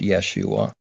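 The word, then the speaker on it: ישועה: know then there's yeshua there's a hebrew word pronounced yeshua it's got the hebrew word right next to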